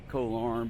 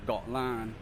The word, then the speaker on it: Koh Larn: background is Koh Larn all its foreigners say coal arm but it's actually you know pronounced thought line and you know when